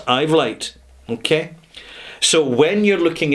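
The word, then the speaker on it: Uitvlugt: It's pronounced Ivlite, okay?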